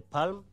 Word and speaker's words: palm: identify them in your palm my english teacher the teacher of english told me l is silent so you can identify them in the palm or the fingernails you